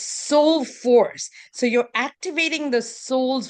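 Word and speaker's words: Sol4ce: It's spelled S O L 4C. So it's soul force.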